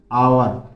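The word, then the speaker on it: hour: आवर इसको क्या बोलोगे आवर यहां पर एच साइलेंट रहता है आ की आवाज आ रही है आ का साउंड हो रहा है ये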